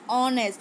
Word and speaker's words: honest: Okay, you will be thinking that why teacher saying that N honest people, but here H is silent. So we are looking to next alphabet, that is honest.